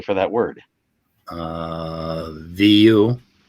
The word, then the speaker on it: vous: for that word uh vu it's v-o-u-s oh okay i should have known that v-o-e here's the thing the s on the end isn't isn't pronounced right right um but what